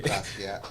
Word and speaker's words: Basquiat: Basquiat.